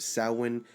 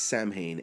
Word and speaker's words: Samhain: Halloween has its roots in the ancient Celtic festival of Samhain, pronounced Samhain, but sometimes said as Samhain, as it's spelled Samhain, meaning summer's end.